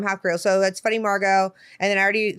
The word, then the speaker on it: Margeaux: Margeaux is spelled like Papado. It's Margeaux.